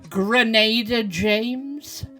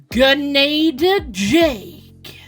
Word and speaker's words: Gernader Jake: 2 should know, but few of those pronounce his name right. Gernader James? Grenadier Jack? Gernader Jake.